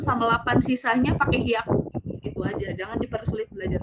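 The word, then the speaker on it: 百: Nah, kalau dia 100 itu ada hiaku, biaku, sama piaku. Tergantung kalian tuh penyebutannya tuh mau di angka berapa gitu ya. Kalau dia 100 biasa dia pakainya hiaku.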